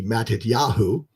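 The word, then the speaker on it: מתתיהו: Like Yehoshua, when you put it at the end of a name, we're talking about Matthew, which would be Matityahu, it's Yahoo.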